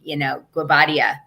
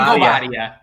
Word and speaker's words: Guobadia: I mean, Guobadia. Can you believe I can say his name right? Simon Guobadia.